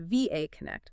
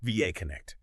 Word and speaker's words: VAConnect: And for everyone listening, that's pronounced VAConnect. VAConnect.